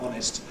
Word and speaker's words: honest: Nor am I talking about words like hour, 60 minutes, which have an H in the spelling that is not pronounced in standard English. Hour, honest, heiress, and a few others that you know about.